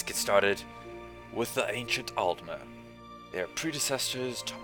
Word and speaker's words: Aldmer: saying the names well let's start with the pronunciations the ancient elves or the Ultima spelled al d m ER and the high